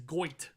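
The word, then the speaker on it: Gotye: Goatee? Dave, you go first. It's the only way I'll be able to talk on this podcast. You know, It's Goit. is that how it's pronounced?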